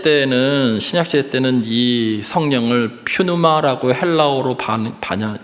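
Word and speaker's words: πνεῦμα: 어 여러분 신약 시대 때는 신약 시대 때는이 성령을 퓨누아라고 헬라오로 반야 그 발음합니다.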